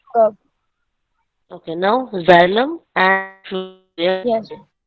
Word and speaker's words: phloem: Now xylem and phloem.